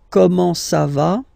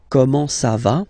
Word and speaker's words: comment ça va: Okay, comment ça va? Okay, you raise a little bit at the end.